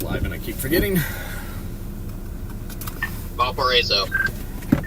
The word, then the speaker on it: Valparaiso: Valparaiso. Valparaiso. Alright, I'm gonna say that 10 times in my head. Valparaiso.